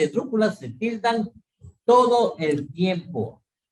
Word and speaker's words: esdrújula: Por ejemplo, esdrújula. Esdrújula es esdrújula. ¿Sí? Por eso tilda en la U.